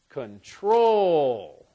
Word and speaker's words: control: let's talk about control now if I stress the second syllable it'll be control if I stress the H that was the first syllable stress control if I stress the second syllable control control control which one sounds better I think it sounds best as control so the stress on